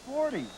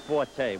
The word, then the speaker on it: Forte: No, it's 40. No, it's Forte. We're changing. Oh, we're it's spelled changing.